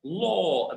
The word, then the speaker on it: law: And to help you pronounce it correctly, think about the number four.